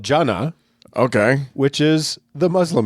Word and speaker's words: Jannah: into it uh this this heaven is called jannah j-a-n-n-a-h can you spell that in arabic uh uh yes cody edit